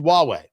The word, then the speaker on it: Huawei: We prevented Huawei and so did the Canadians and so did the Brits from Huawei which is spelled hu a wii pronounced Huawei.